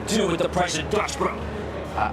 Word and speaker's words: Dutch Bros: Look at Dutch Bros. No, that's what I just mentioned. I I'm aware. I didn't know it was up point. Dutch, bro. You don't pronounce the S.